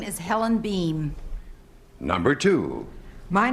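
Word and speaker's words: Boehm: Birds connoisseurs recognize that the name beam is spelled b o hm now our first guest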